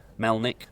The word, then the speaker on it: Melnik: But thankfully Melnik, two syllables, nice and easy.